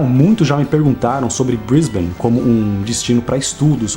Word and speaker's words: Brisbane: ficar falando Brisbane, mas os americanos têm mania de falar Brisbane, e os australianos não gostam disso porque o correto é Brisbane.